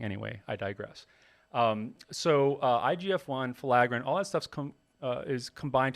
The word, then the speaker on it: filaggrin: But the fact is, certain genes like the filaggrin gene, which, Jose, did you look it up how to say it?